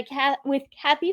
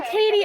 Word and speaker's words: Katy: Today is Wednesday, August 11th, and I am joined by Kathy from Willis. Thank you for being here. Thank you. It's actually Katy. Oh, sorry, Katy.